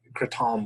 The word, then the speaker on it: Kratom: It's called like Kratom would be like the actual way to say it. But if you're an asshole, you'd say it like that. Kratom's how most people say it.